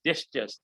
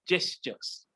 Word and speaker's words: gestures: u r e s gestures although we call it it start with g it pronounce it like j gestures what are gestures remember